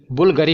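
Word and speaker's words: Bvlgari: Next है कि बुल्गरी, इसकी प्रोनाउंसिएशन बुल्गरी होती है, भले ही बीच में वी लिखा है BV, पर ये यू आएगा प्रोनाउंसिएशन में, याद रखिएगा।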